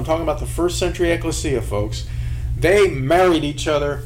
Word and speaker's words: ekklesia: that's translated church ekklesia some pronounce it ecclesia ekklesia this was a local